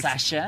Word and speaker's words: Saoirse: Sasha.